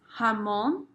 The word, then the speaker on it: jamón: Ham is jamón. Remember the J really always has that H sound. G's kind of depend, but J's have the H sound. So, jamón. It's not jamón. Jamón.